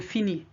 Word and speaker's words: finis: With je, it's is, but as you know the s is silent at the end, therefore you leave it out. Je finis. You only write it, you wouldn't say it.